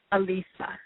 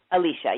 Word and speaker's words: Alysia: So you pronounced it perfectly from the page. So say it one more time for myself and my audience. Alysia. Did I say it right? Alysia, yep.